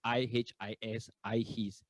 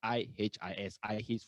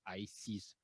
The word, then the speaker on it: IHIS: Okay, the pronunciation is IHIS for short. There was a joke where there was one time the entire leadership went for an overseas retreat, and most of us already cleared the custom, and one of our colleagues stuck at the custom, and we were all guessing why is he taking so long. Most likely he must have pronounced wrongly. Instead of I his, he pronounced as I sees.